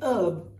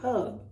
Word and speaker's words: herb: Then you have herb, which is an aromatic plant. But if you're American, you'll say herb. But if you're British, you'll say herb.